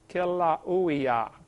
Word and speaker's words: Kilauea: They pronounce every vowel over there in Hawaii. Kilauea, Kilauea-iki, something like that.